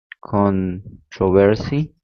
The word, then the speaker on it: controversy: and others say television another example is con controversy and controversy all right and this usually is the difference between british english and american english so for instance television